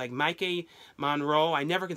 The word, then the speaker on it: Maika Monroe: It's Maika Monroe.